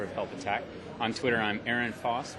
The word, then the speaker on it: Ehrenfoss: On Twitter, I'm Aaron Foss, but it's spelled weird. It's EHRENFOSS.